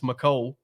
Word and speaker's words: Mecole: And the thing about, and we're pronouncing his name wrong over and over again. Apparently, it's Mecole. Is what he told everybody. I've been calling him Mecole.